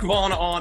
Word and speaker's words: Von Ahnen: indie comic creator von ahn who i'm pretty sure you just butchered your name you got it really close it's vaughan on in so on you got it closer than most people i was actually